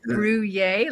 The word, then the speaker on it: Bruhier: Joining us is Catherine Bruhier. Did I pronounce that right? It's Bruhier, like you're having a Bruhier.